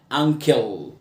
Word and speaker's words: uncle: اليو صوته مع الان ان، والسي هنا بنطقها كي uncle. ولما تلاقي ال اي في اخر الكلمه بنطقها كده uncle، مش انكل، uncle.